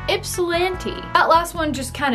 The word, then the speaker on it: Ypsilanti: So we got Bessemer, Harlingen, and I don't know how to pronounce the last one. Let's ask Google. Ypsilanti. Ypsilanti.